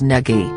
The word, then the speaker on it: Nagy: If he says the pronunciation is Nagy, that's what I'm calling him.